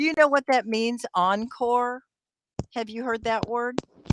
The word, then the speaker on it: encore: know what that means encore have you heard that word encore yeah and it's pronounced on core kind of like core but um there's another